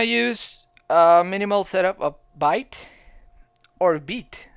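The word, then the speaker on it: Vite: So we're gonna use a minimal setup of byte or beat. I have a friend who said to me that beat was actually a French word, so it should be pronounced beat.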